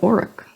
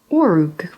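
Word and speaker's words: Orruk: I've always been calling it Oruk. Orug, with the or as a short value sounding as in on, orang, and ook sounding like the vowel from nook.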